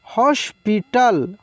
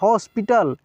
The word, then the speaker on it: हॉस्पिटल: हॉस्पिटल, हॉस्पिटल। देखिए ये जो ऊपर दिखता है ना चंद्र, जिसको केवल चंद्र बोलते हैं, इसका उच्चारण औ के रूप में होता है, औ के रूप में, ध्यान रखना है।